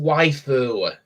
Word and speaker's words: waifu: what the heck is a Wu or Wu it's it's pronounced waiu yeah what is it